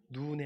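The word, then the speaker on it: נון: 좀 길게 발음합니다. 히브리어로 눈이에요. 그냥 눈이 아니고 눈의 아들 여호수아예요.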